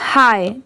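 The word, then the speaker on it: high: इसे हम क्या पढ़ेंगे हाय ठीक है आप याद रखिए कि अगर कहीं पर एच आई जी एच बस इतना ही लिखा रहा तो वहां पर आप उसे प्रोनाउंस करेंगे हाय और लास्ट में अगर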